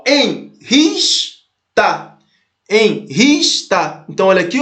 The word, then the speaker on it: enrista: Ó, enrista. Enrista. Então, olha aqui, ó. Separa, enris. Nessa palavra, ó, enrista. Qual que é a sílaba mais forte? Enris, né? É o ris, ó.